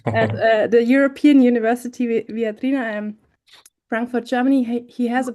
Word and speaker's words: Viadrina: At the European University Viadrina, Frankfurt, Germany.